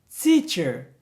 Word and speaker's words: teacher: Teacher.